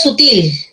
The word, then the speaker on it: sutil: muy bien ya aquí la palabra es sutil sutil la fuerza de doz está en la última sílaba termina en l aguda